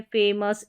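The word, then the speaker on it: famous: जैसे कि यहां पर इन सभी स्पेलिंग्स के लास्ट में है। इसको अस करके पढ़ देना है। जैसे फेमस ठीक है? फेमस।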